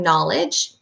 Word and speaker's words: knowledge: So we're specifically going to look for the KN, like in the word knowledge, and GH, like in the word highest, where those are tricky because they're really silent and you can't hear them when you're reading.